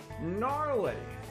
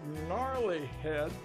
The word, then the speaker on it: Gnarly Head: uh it is a gnarly g-n-a-r-l-y but the g is silent source just called gnarly head it's a california red